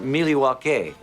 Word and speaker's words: Milwaukee: Actually it's pronounced Milywake which is El Gangquin for the good land.